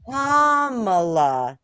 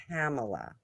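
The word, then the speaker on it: Kamala: her name is anymore comma not camela I saying comma yes I said kamla and they're like you're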